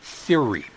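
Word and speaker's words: Thiry: Theory. That's theory spelled like 30 without the second T.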